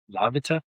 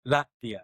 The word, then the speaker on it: Latvia: She's from Lavita. not here. Latvia? Yeah. That place. How do you say it? Latvia? Latvia.